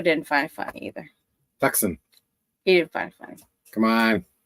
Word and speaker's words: Tucson: find it funny either tuxen he find funny come on as Canadians we call it tuxen don't you don't you say it like like you spell it does it that way no you don't and apparently